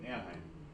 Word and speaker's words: Anaheim: Anaheim, is that how you ever say it? Yep, Anaheim.